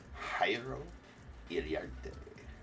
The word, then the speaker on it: Jairo Iriarte: Jairo Iriarte.